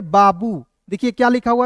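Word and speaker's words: babu: अंतिम में दिखेगा तो बड़ा ऊ के रूप में करेंगे। तो क्या हो जाएगा? बी ए बी यू बाबू।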